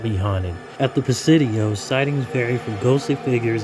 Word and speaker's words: Presidio: Say it correctly, Presidio.